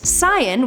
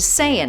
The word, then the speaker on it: Saiyan: fellow named Barry Watson, made a mistaken and Sigh-en, which is actually the original and arguably correct way of pronouncing sayien, was changed to sayien.